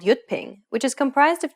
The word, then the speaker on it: Jyutping: Although it's represented as a J, it actually sounds like an English Y sound. So whenever you see the letter J in yutping, remember that it's pronounced as a Y sound.